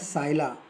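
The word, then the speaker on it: psylla: It is called scilla. P is silent.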